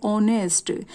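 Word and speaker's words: honest: दिखाई दे रहा है, लेकिन जब हम इसको बोलेंगे तो क्या बोलेंगे, ऑनेस्ट। यहाँ पर एच जो है साइलेंट है, तो साउंड जो है ओ की आ रही है, ऑनेस्ट पॉलिटिशियन।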